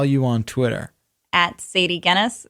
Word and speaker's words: Gennis: At Sadie Gennis, spelled like tennis, not the beer.